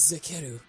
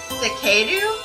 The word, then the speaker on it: Zekeru: My name is Zekeru. Zekeru. Wait. Wait. Okay, so... I had to clear my throat. Wait, so he pronounces it Zekeru?